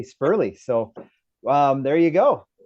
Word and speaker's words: Sperle: Canal not null and the e in his name I've been calling him Corey spurle for years but it's actually Corey spurley so um there you